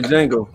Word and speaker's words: Django: Okay, I enjoyed the Django too. It's not. The D is silent.